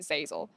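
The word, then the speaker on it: Zeyzel: And then you're looking at Sneaky and Zazel.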